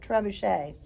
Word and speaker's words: trebuchet: Oh, by the way, trebuchet is spelled like tree bucket, Trebucket, but it's a French word, so you pronounce it trebuchet.